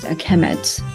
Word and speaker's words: Kemet: will be, the noun will be pronounced Kemet. So Egyptians, the writing system have signs that present sound and signs that present meaning. So in this case, sound, Kemet, is represented by this sign.